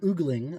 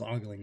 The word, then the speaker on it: ogling: But the word oogling, I think, is how Taylor pronounced it, which is hilarious because I always thought it was ogling, but oogling is a lot funnier read on that word. Although maybe it's the Canadian way to say it, eh?